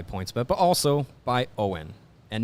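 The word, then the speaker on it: Owyn: but but also by owen and no it's not owen power it is spelled o w y n and what is it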